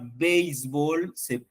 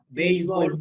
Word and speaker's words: béisbol: La palabra béisbol también tiene una forma alternante de pronunciación. Es béisbol o béisbol. Ah, en béisbol, ¿qué tenemos? ¿Qué tipo de palabra? Béisbol. Aguda. Aguda. Y en béisbol, Grave. Grave. grave.